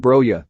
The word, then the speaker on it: Broja: Broja, pronounced Broja, was born in Slough, the home of David Brent about 20 miles west of London, along with his two sisters.